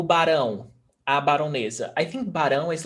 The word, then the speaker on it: baronesa: And remember, one S between vowels, it's pronounced Z. Baronesa, with a Z sound. Baronesa.